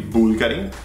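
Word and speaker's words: BVLGARI: It's actually Bulgari. Bulgari. Bulgari. This is interesting because the brand is actually spelled with a V, the way Romans used to spell the U.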